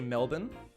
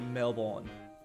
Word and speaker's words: Melbourne: we say harbor harbor it's like Americans always pronounce Melbourne wrong we say Melbourne Americans a male born Melbourne that's that's not all right that's